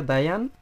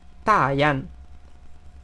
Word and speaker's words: Dayan: en su momento que la mayoría de la gente diría dayan pero la manera correcta de pronunciarlo es taiana también bajando porque tiene este tono aquí está bien esta